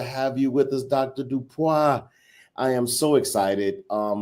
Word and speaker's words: DuPois: Dupa.